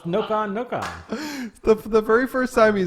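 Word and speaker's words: ノコノコ: It says Koopa Troopas, or Koopas known in Japan as, how do you pronounce that? Noka Noka? It's Noka. It's Noka Noka.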